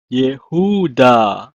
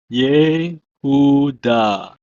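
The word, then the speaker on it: יְהוּדָה: It's pronounced as Yehuda. Yehuda.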